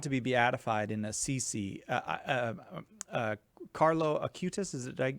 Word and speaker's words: Carlo Acutis: Carlo Acutis, did I say his name?